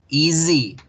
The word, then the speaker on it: easy: Entonces, easy, easy, easy. Se escribe con S, se pronuncia con Z.